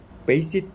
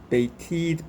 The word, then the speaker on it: bated: Here, they pronounce it basic breath instead of bated breath.